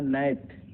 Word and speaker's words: gnat: Right, right में ई silent है, आपने पढ़ा था। और यहाँ नैट, मच्छर, GNAT, नैट मीन्स मच्छर होते हैं।